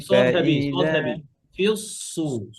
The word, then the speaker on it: في الصور: ونفخ في الصور সদ হেভি, সদ فإذا heavy, Fuse সু, ফিউস, ফিস সু না, ফিউস, সদ ইস্তেলার হরফ, ইদবাকের হরফ, হ্যাঁ।